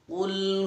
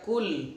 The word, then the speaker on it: qul: Jangan sampai dibaca kul huwallahu ahad pakai qaf ya.